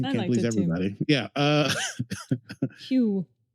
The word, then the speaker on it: Hugh: Hugh. Hugh rhymes with pew.